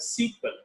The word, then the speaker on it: SQL: be structured query language will be pronounced as a sequel s e e q